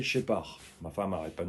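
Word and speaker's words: Scheppach: Ça se prononce Shepard, mais ça s'écrit S-H-E-P-A-C-H. Shepard. Et c'est Shepard.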